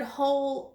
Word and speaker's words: whole: which still sounds like because the W is silent this is the word hole also but that has